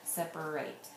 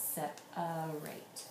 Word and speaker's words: separate: a say a okay a common spelling problem on except for right is that everyone wants to say er here separate but really it's set a rate okay now once you